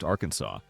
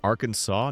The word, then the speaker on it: Arkansas: The extra s is just history showing off.